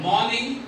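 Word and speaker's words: morning: समझा जाएगा Sanjay Sanjay मॉर्निंग मॉर्निंग मॉर्निंग मॉर्निंग आर को थोड़ा सॉफ्ट करें और इंग को इतना क्लियर नहीं बोलना मॉर्निंग मॉर्निंग मॉर्निंग मॉर्निंग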